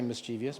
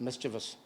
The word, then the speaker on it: mischievous: had a mischievous side You Never Say mischievous by the way just in case that's the way you used to pronounce it it's mischievous they were also partners